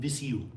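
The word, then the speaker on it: Viseu: The next day, how do you pronounce all these things? All these things. Porto, uh Guimarades, uh Penafel, and Visu.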